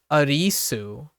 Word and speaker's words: Arisu: close but it becomes ARIS with a soft U at the end but yeah and and here's the funny part this is where the dub gets crazy right here's a meta dub and when they dub it over they make the English voice actor right the English voice actor say arisu as in like a-r-i-s-u so every time like